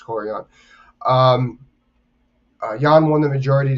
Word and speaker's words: Yan: Sorry, I want to pronounce her first name correctly. I never do. It's Yan.